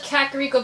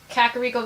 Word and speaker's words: Kakariko: And yes, it is pronounced as Kakariko Village. Yes, I will complain about that. I hear people pronounce it differently. It is Kakariko Village.